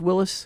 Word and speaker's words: Willys: You said Willys, but didn't you correct me and say it's Willis? Well, it should be pronounced Willis.